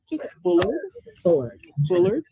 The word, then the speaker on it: Bullard: Bullard. Okay. And if you mispronounce, we're going to be okay. It's no problem. Bullard like the animal buller.